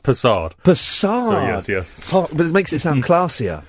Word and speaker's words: Persad: Now, I think I've been saying persad wrong. It's okay. I'm used to it. What? Give me the correct saying. Um, it's from Trinidad. It's pronounced pad. Passard.